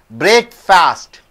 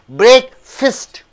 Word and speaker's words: breakfast: surroundings Rooty Hills Have a good atmosphere next break fast you don't say breakfast what do you say break fist breakfast break breakfast uh breakfast right breakfast means